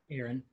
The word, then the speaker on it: Aron: So is Erin pronounced Aron? Aaron. It is Aaron.